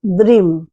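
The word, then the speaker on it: dream: কিন্তু উচ্চারণটা হবে দ্রিম দ দিয়ে উচ্চারণটা হবে ড দিয়ে দিয়ে নয়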